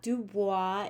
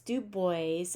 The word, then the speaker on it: Du Bois: you say uh do boys names it's not dubois it's dubois at least that's how many people have said to pronounce his name including w e b du